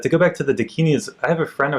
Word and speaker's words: Dakini: Dakini.